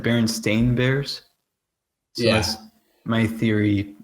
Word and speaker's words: Berenstain: I'm pretty sure people thought it was Berenstein Bears because that's how they pronounced it. No yeah, one ever said Berenstain Bears.